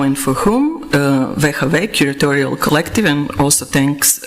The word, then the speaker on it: WHW: an in abbreviated form we don't pronounce it as whw but in a kind of a hybrid in cretian way as veave so when I say veave I mean the name